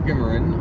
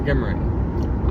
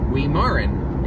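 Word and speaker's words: Guimarin: Michael Gimmerin, our friend, you should follow him on X, by the way, formerly Twitter, @ Michael Gimmer. It's spelled G U I M A R I N. Michael Gimmerin.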